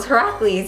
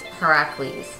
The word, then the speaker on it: Heracles: his name was herac you should have know Heracles yeah are you sure it's not just like said that way but it's spelled Hercules how how is her like you